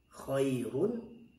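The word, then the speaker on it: خير: Contohnya khairun, tapi kita waqafkan khair, khair. Nah, maka ra-nya tipis. Bagaimana supaya mendapatkan ra yang tipis? Cara membacanya ya, prakteknya adalah agak meringis khair, demikian prakteknya.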